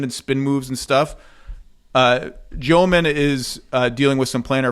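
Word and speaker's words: Demin: By the way, I watched 2 separate videos of Yegor Joman educating people how to pronounce his last name, first at BYU and then with the Nets, and they were different pronunciations. One was Demon or Demon, and one was Joman, and I'm going Joman because that was the Nets one.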